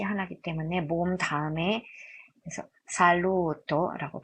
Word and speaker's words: saluto: 롬바일, 수오, 살루토, 살루토. 여기 발음 조심하셔야 되는데 어떤 분들이 여쭤봐요. 선생님 여기 뭔가 모음사인데 그러면 수오잘루토 아닌가요? 아, 여기는 수오잘루토가 무언가 모음 사이하고 해당되지 않습니다. 독립된 단어이기 때문에.